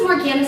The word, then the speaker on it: Morgana: entertaining my name is Morgana it rhymes with banana Morgana banana and I love to